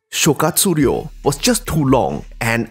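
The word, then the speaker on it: 諸葛亮: Perhaps because Zhuge Liang, when pronounced in Japanese, Shokatsuryo, was just too long and unwieldy to use in normal conversation.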